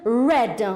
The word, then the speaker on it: read: changes in pronunciation so the verb to read in the infinitive form is really done or in the present it's read but in the past form it becomes red like the color red done all right